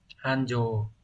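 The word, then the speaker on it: 繁盛: Hán tự chúng ta có đây là chữ phồn và chữ thịnh, như vậy là sẽ đọc là Hanjo.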